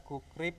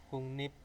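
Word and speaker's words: 국립: teman-teman sudah terbiasa ketika ada kukrip ya kukrip Kok bacanya Kok aneh gitu ya jadi apa kungnip ya Nah seperti itu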